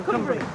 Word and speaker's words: Cumbrae: Is that the right pronunciation? Cumbrae. Cumbrae. That's Cumbrae.